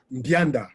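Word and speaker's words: Mbianda: Bianda. Bianda. Okay. Bianda. Yes. You don't pronounce the M.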